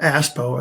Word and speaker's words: ASPO: form and they might see it spelled out as aspo aspo as it's commonly pronounced or called and go what the